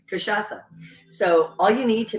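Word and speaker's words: cachaça: actually pronouncing that right I do know I'm pronouncing kashasa right and caipirinha um but it is not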